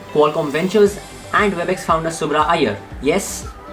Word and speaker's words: Subrah Iyer: Ventures and WebEx founder Subrah Iyer. Yes, that's the Indian pronunciation of his name.